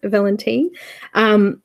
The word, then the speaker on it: Valentin: they're lovely Heather Valentin I've been told I've been saying it wrong all this time it's a villain teen has just started a